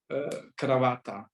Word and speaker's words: kravata: Cravata.